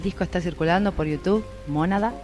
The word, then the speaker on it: Mónada: Bueno, el disco está circulando por YouTube, Mónada, con acento en la O.